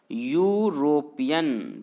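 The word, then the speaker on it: European: मैंने क्या कहा, इसे, इसका प्रोनाउंसिएशन मैंने क्या कहा, यूरोपियन, तो यूरोपियन जब पढ़िएगा तो पहला अक्षर क्या हो रहा है, यो ना, और यो तो आता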